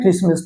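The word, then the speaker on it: Christmas: word लिखा है क्रिस्ट अब इसको हम क्रिस्टमस नहीं बोलते इसको हम क्या बोलते हैं क्रिसमस तो ये इसके रूल के अकॉर्डिंग नहीं है लेकिन यहां पे भी आपका क्या होता है टी साइलेंट होता है अब एक वर्ड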